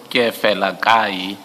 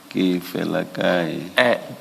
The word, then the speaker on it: Keefelakae: So you don't enunciate the second E. Can you please pronounce the surname? The surname is pronounced as follows: Keefelakae. Keefelakae.